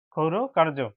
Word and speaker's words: ক্ষৌর: এই রেপটি এখানে র উচ্চারণ হবে বন্ধুরা, খৌর কার্য, ক্ষৌর কার্য।